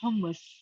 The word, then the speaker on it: hummus: what are you doing pronunciation of that are you saying thomas thomas so not i'm from the rock obviously it was a bit further south so oh okay i'm arabic so it's hummus okay cool so okay